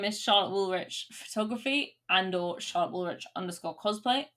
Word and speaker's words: Woolrych: Hello, my name is Charlotte Woolrich Photography or Charlotte Woolrich _cosplay. Woolrich is spelled WOOLRYCH. Confusing, I'm sorry.